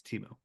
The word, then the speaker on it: Temu: ] uh everybody I everybody thought it was teu now it's temu apparently that stupid temu commercial